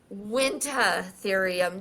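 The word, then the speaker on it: Uintatherium: But the pronunciation that I looked up was wintherium. The U is silent like the P in petrodactyl.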